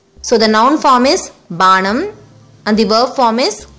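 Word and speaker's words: பானம்: For the noun drink, banam, pa, a long sound letter. While speaking, pa may also sound as ba in some words.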